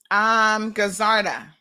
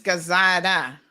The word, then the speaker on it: Gazada: Gazarda or Gazada. Anyway, something it's Gazada, no R.